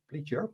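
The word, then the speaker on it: Pliger: of them is Fabio Pleure Pleure. Depending on which country you come from, the pronunciation will be different. uh pledger in uh American and he is the inventor of biscript.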